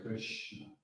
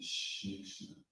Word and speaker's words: Krishna: So, so I should say Krishna. It's a very precise sound, which it's almost like cutting through the ignorance. And Shnikshna is an easy way of doing it, an easy way of saying it.